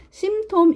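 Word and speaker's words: symptom: 숨겨진 자로 해서 여기에는 심 톰 이라는 얘기가 나오네요 네 피가 묵음 이네요 심 톰 그래서 제가 여기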